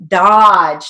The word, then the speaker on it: Dodge: Okay, Dodge. Now Dodge has a broad A sound, but it's spelled with an O, so we're going to keep the O.